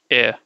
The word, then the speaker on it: er: to say this one you say air without R so it's just air okay air then what about es